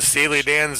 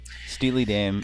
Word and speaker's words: Steely Dan: I really liked you in Steely Dan's Aja. She's got a STV, straight to voicemail. Remember how we were schooled today, Patrick, on how some of that shit was pronounced? Asia. Steely Dan.